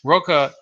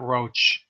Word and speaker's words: Roche: 1995 Roca obtained that's that's how he pronounces it by the way not not Roche which is the typical way people pronounce it I spoke them personally I think he pronounces it roca so he obtained the